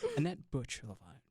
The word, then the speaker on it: Anet Bucilova: Today, I am joined by Anet Bucilova. Is that the right way of pronouncing it? Yes. Okay. Anet Bucilova.